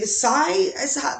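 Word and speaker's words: Hsieh: famous but you but you know um tony sy that's how you pronounce his name i know his face from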